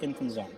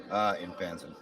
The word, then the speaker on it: Infanzon: Infanzon. Infanzon. Infanzon. Okay, so it's the A. Okay, that's the part I got to work on. It's pronounced the way it's spelled.